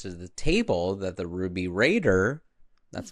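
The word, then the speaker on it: Ruby Radr: one of the elders then announces to the table that the ruby raider, that's how you say it, went missing from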